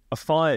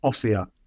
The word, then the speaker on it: Offiah: I did realize that a fire is not actually how you pronounce your surname and I've just said it and I realized that's not how you pronounce it is it no my my name is offia but um yeah chariot's